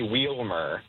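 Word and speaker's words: Wielmer: They say Wilmer. Oh, I I guess I can see how how you might mess that up. But, okay. So, it's Wilmer, but it's spelled with more syllables.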